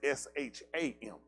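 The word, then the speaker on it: Shamah: I think it's S-A-M-A, but it's pronounced as S-H-A-M-A-H.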